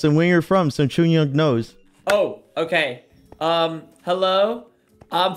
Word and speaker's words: 중력: C'est Jungryeok. Yeah, Jungryeok. Jungryeok. Jungryeok. Jungryeok. Yes. Jungryeok. Jungryeok. Jungryeok. Jungryeok. 완벽해요. 완벽해요. 오케이.